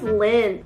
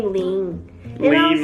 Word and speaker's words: Lynn: then she said yeah my name is Lynn but you always call me Lan like this and I was like